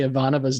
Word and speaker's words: Ivanova: If I do anything in our watch through of this podcast, I will get you all to say Ivanova's name right, damn it.